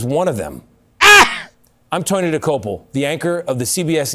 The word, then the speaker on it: Dokoupil: I'm Tony Dokoupil, the anchor of the CBS Evening News.